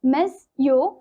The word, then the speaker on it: monsieur: or Sir, pronounced monsieur.